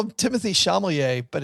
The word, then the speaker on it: Chalamet: Also, I call him Timothy Chalamet, but it's just Chalamet. Timothy Chalamet. It's just Chalamet, like Shalimar. Timothy Chalamet, that great group from the Gwyneth 80s.